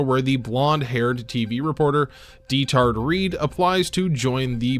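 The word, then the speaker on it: Diethard: I know what it sounds like, and I definitely thought it would be pronounced Deter, but it is not in the dub.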